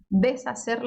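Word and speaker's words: deshacer: des deser descer e lembre-se que o h como eu já falei é mudo Então você vai passar reto na hora de pronunciar deser as palavras pronunciadas aqui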